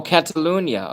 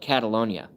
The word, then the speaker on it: Catalunya: Oh, Catalunya. Okay, so Marcos M actually pronounced it properly. Spelled it properly. I call it Catalonia.